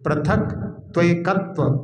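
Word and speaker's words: पृथक्त्व: विपरित क्रिया निवती हा इसके उच्चारण में पथक अकेला बोलो प्रथक त्व तो सही उच्चारण जाएगा इसका हा प्रथक एकत्व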